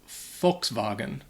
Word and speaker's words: Volkswagen: nghĩ bằng tiếng Đức, họ sẽ phát âm nó Volkswagen. Đó có phải là khá tốt? Tôi nghĩ vậy. Ở Mỹ, rất nhiều người nói tiếng Anh bản xứ sẽ nói Volkswagen. Vì vậy, bạn sẽ ở